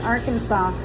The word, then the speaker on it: Arkansas: then they're going to Arkansas. She called it Arkan- Arkansas and I told her how to say it properly and and so she was happy about that.